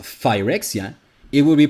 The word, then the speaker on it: Phyrexia: it with a PH, but pronounced it with the closest sound that was an F, that of Phyrexia.